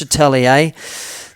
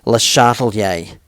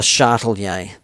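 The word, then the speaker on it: Le Chatelier: now let me teach you it's not much Atelier that's a dodgy way of saying it the proper way of pronouncing this French name is les shuttle yay the shuttle yay the shuttle yay so get get practicing on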